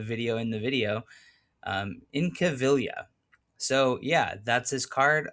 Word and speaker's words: Incaviglia: Pete Incaviglia, no G. Don't pronounce it. Um it's not Incaviglia like I might have said in the video in the video. Um Incaviglia.